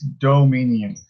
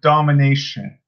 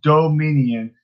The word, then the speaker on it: Dominion: on you, Noah, but domination has a T in it. Dominion does not. It's Dominion. But to be fair, I never knew how to really pronounce it, but it's pretty much D-O. It's minion. You should put the do in front of minion, and it's Dominion. So it's not domination. It's Dominion.